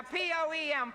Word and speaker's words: poem: No, poem is P O with a E with a M. Now P O E M poem.